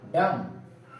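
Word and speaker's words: dumb: अब यहाँ पे m के बाद भी आया है, हर जगह पे m के बाद भी आया है, तो b को प्रोनाउंस नहीं करेंगे। इसका सही प्रोनाउंसिएशन होगा क्लाइंब, डम, टोम, बॉम्ब, लिम।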